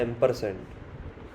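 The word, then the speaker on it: ampersand: इसका प्रोनाउंसिएशन होता है एम्परसेंड।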